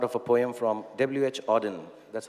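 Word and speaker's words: Auden: it's a part of a poem from wh odin that's how you pronounce it so i wish you first a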